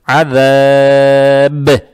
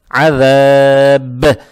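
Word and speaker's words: عذاب: Это «мад арид» будет, а «ба» надо будет подчеркивать, так как появляется сукун и будет «калкала». То есть надо читать «азаб», «азаб».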